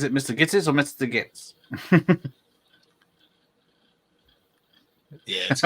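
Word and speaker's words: Gittes: now um is it Mr Gs or Mr gits yeah how you pronounce it K kitties kitties there you go uh so apparently this a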